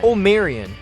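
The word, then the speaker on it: Omarion: corrected several reporters and provided the correct pronunciation of Miller's name adding everybody this is my man omaran he went for a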